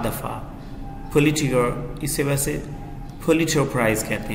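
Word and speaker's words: Pulitzer: times जिसमें चार दफा पुलिस चिढ़ इसे वैसे पुलित्जर प्राइज कहते हैं यह पुलिस पुलिस वर्दी साइलेंट होता है चार दफा जीता था इस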